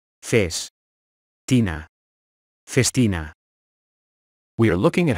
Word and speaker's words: Festina: watch conglomerate so how do you go about pronouncing it Festina face Tina Festina we are looking at how to pronounce the